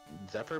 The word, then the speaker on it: Zephyr: this screen up the uh how do you pronounce that zephi badge Zephyr badge Zephyr badge okay at enemy North there